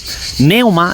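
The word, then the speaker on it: πνεῦμα: Se dice que es neuma, es su correcta pronunciación.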